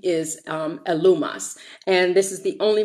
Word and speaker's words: Elymas: And so he calls himself Bar-Jesus, but his real name is Elymas, and it's pronounced Elumas.